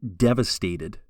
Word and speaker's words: devastated: In this week's sample, you will hear the speaker describe feeling devastated. Listen to how I stress the first syllable when I say this word, devastated.